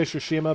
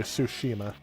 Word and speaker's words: Tsushima: i don't know exactly i say sushima because that's who the youtuber who i heard all about it from uh that's how he pronounced it but in the game they pronounce it so i'll say it more slowly tsushima i don't know what's